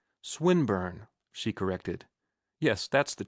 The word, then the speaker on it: Swinburne: swatted meant this man swineburn he began attempting to put his plan into execution and pronouncing the i long who swineburn he repeated with the same mispronunciation the poet swinburne she corrected yes that's